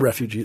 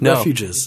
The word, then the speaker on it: refuges: Wildlife bird refuges Refuge refugees it's not refugees refuges that's it Wildlife areas in